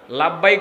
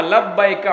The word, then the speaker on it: লাব্বাইক: লাভবাইক তো বলতে পারে না, লাভবাইক আল্লাহুম্মা লাভবাইক এইভাবে উচ্চারণ করে, তালবিয়া পড়তে পারে না। তালবিয়াটা জানে না অনেকে। আপনি যখন এহরাম পড়লেন, এহরাম পরে আপনি নিয়ত করলেন আল্লাহুম্মা লাব্বাইকা উমরা অথবা হাজ্জান, যেটাই